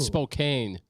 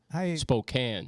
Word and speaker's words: Spokane: I'm glad I It's from Spokane, Washington. Not Spokane. Spokane. I never know how to pronounce that.